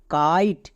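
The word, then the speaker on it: kite: মানে কাইট। শেষে ই সাইলেন্ট।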